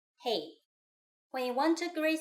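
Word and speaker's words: 嘿: it every day already hey hey if it sounds familiar it's because it's just like the English hey but make sure to say it with the right Mandarin tone hey when you want to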